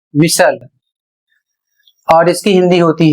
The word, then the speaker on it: whistle: अगला शब्द है डब्ल्यू एच आई एस टी एल ई और इसे पढ़ा जाएगा विसल।